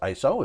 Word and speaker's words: ISO: and it is pronounced ISO it's not an acronym it's a word so when you when